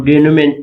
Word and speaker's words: denouement: Resolution का दूसरा नाम डेनोमेंट भी होता है, डेनुमा इसको प्रोनाउंस करते हैं।